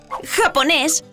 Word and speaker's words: japonés: a ver otras palabras agudas Como por ejemplo japonés japonés o tiburón tiburón Ay qué miedo me dan